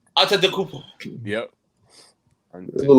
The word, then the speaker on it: Antetokounmpo: Yeah, I can't pronounce that. Thomas. Antetokounmpo. Yep. It's all in the tongue. Antetokounmpo.